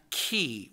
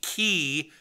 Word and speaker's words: chi: the abc cba oh the greek letter key c-h-i is how you spell that yeah so if